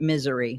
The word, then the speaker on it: Missouri: Yeah, well, my son always pronounced it misery.